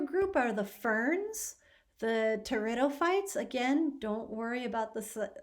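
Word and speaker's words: pteridophytes: point so it's a territory fight you don't pronounce the p just pronounce the t and these are groups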